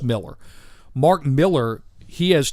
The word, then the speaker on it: Millar: A lot of people say Mark Millar because he's Scottish, and he spells his name Millar. Well, it's pronounced Miller.